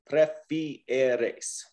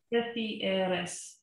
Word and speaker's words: prefieres: But anytime you have a word like that, just to isolate those vowels, because in Spanish we pronounce every single vowel. A-E-A-A. Prefieres. Prefieres.